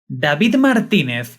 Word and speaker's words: David Martínez: “David Martínez” is the actual name pronunciation, but I’ll stick with the “David” experience to keep the series’ coherence.